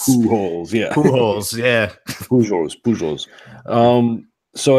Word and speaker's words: Pujols: It's POO dash holes, HOLES. Pujols, yeah. Pujols, yeah. Pujols. So if I say that, you have to take the first letter of that person's last name, P, Pujols.